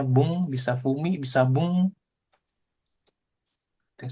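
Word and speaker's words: 文: Ini bisa dibaca fumi. Oke, yang artinya adalah surat atau tulisan. Oke, dia kalau sendiri begini ya dibacanya fumi. Tapi seringnya apa? Dibacanya ini, kanji ini. Dibacanya bung.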